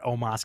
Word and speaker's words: Omos: Immediately challenged AJ and, how do you pronounce it? Omos. Omos or Omos? I think it's almost. I think Omos. It's Omos.